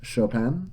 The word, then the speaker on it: Chopin: His last name is actually French, Chopin, which is why you pronounce it that way.